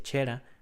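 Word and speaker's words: Cera: Al norte loa, pronúnciese chera.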